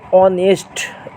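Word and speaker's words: honest: অনেস্ট উচ্চারণ করতে গেলে এইচ এর উচ্চারণ টা সাইলেন্ট থাকে। এইস এর উচ্চারণটা হয় না। আমরা কি উচ্চারণ করি? অনেস্ট।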